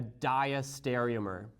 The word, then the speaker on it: diastereomer: The other relationship that we'll talk about is a diastereomer. Now, this one always trips up people on how to pronounce it, so I'd like you to repeat after me.